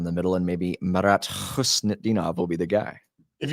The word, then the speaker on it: Khusnutdinov: Khusnutdinov. That's how you say it.